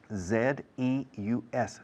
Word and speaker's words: Zeus: Z-E-U-S. Zeus, ¿cómo suena? The same in English and in Spanish.